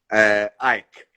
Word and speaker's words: AEK: How do you pronounce it? AEK? Ike. Ike. Okay, like in Russian.